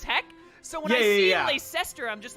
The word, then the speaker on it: Leicester: There's any other way to say that word other than Leicester?